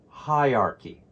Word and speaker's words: hierarchy: the end of teacher the AR almost disappears it's a very weak sound and chy sounds like